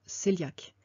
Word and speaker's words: cœliaque: Alors ça s'écrit coéliaque, mais en fait ça se prononce cœliaque.